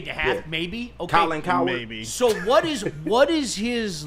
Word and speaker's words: Cowherd: It rhymes with Rowland Rowherd. Oh, okay. Got you. He has not said anything sincere in what, a decade and a half, maybe? Okay. Colin Cowherd?